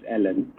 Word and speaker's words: Elon: I've heard his name pronounced in different ways. His South African pronunciation is Elon.